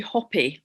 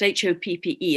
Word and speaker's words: Hoppe: in America called Jeffrey Hopi, I think his name is pronounced, Hoppe, and he runs something called the Crimson Circle.